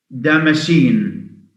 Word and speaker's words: Damascene: Now the C is also pronounced as a S sound if preceded by an S. So SC, seen, seen, SCENENA, seen. Damascene, Damascene, you know what that means? Damascene. Damascene is the adjective of Damascus.